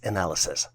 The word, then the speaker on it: analyses: The plural version for analysis is spelled as ANALYSES and is pronounced as analysis.